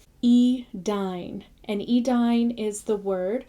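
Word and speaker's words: Edain: So anytime you see a word with AI, it has the sound of English I. E-dine is like dine, not dane.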